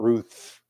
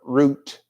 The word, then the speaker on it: Ruth: would have to marry root not Ruth but root as her name actually should be pronounced if he redeemed Naomi's